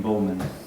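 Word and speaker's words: Buhlman: I would start with, there's a guy named William Bowman. There you go. It's spelled B-U-H-L-M-A-N.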